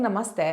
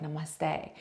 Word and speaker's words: Namaste: them out afterwards that a lot of people are putting the emphasis on the end of the word so Namaste is the